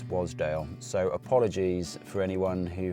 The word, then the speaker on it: Wasdale: been pronouncing Wasdale incorrectly I've been pronouncing it as a Waz wazdale but it's not that apparently it's Wasdale so apologies for anyone